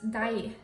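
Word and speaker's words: deig: Oh, I should tell you the word for batter is dai. It's kind of like daiomai, like the word for you, but it's spelled differently. When I say jeg liker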